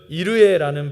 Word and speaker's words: 이레: 여호와 이레의 원어적인 발음은 이르에라는 발음입니다.